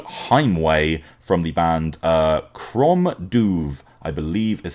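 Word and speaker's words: Crom Dubh: from the band uh Chrome duve I believe is how you pronounce that uh it's kind of a Gaelic thing it's Chrome and then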